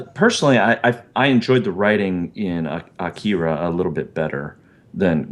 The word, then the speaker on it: Akira: I listened to how they were saying it in the movie. It's not how I normally would have said it, but I was like, that's the pronunciation is different than I expected.